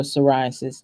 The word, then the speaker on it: psoriasis: Seborrheic or psoriasis. And the psoriasis is spelled PS. So maybe these are Latin words, I'm not sure, but we call it psoriasis and it has a P.